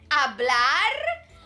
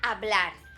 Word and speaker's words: hablar: si si me gusta hablar me gusta hablar muchisimo good and did you notice that the h is silent it's just there so we write it but we don't say it so we say ah